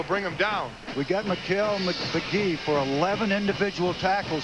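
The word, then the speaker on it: Mikal: And McKell wanted it known that his name has been mispronounced his entire career. It's not McCall. It's not Michael. It's not McHale. It's Mikkel, although it's spelled M-I-K-A-L.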